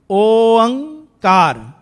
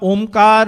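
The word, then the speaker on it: ਓਅੰਕਾਰ: Oankar, not omkar, not unkar, whatever kar, I don't know. Oankar is the only way to pronounce.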